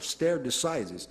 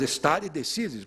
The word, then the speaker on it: stare decisis: E o poder vinculante dessas decisões traduz-se na expressão latina stare decisis, alguns americanos, com a pronúncia deles, falam stare decisis, mas stare decisis, porque, evidentemente, é uma expressão latina.